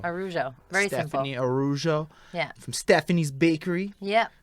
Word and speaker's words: Araujo: Araujo. Araujo. I The know the second A is silent, so it's just Araujo. Araujo.